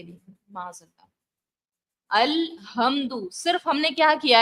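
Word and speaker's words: الحمد: लफ्ज है अल्हम्दु, हा से, हा हलक के दरमियान वाले से सदा करना होता है।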